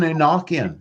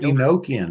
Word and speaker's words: Enochian: even angels or even Enochian or Enochian, depending on how you want to pronounce it, because you have to